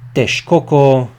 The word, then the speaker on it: Texcoco: The X in the Nahuatl language is pronounced sh, so Lake Xaltocan, Texcoco, Lake Xochimilco, and Lake Chalco.